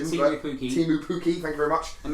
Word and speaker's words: Pukki: And to give my pronunciation, Timu Pukki. Timu Pukki, thank you very much.